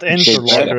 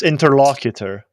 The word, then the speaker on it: interlocutor: truth who try saying interlocutor again it's not interl it's interlocutor Big Bear grammar I don't